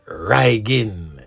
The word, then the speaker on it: Rygin: in the criminal underworld as reyan yeah man but of course him spell it r h y g i n now the word Ryan